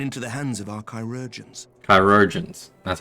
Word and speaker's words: chirurgeons: the battlefield and into the hands of our chirurgeons.